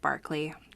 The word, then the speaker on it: Berkeley: governor governor william barkley spelled berkeley but pronounced barkley i don't know why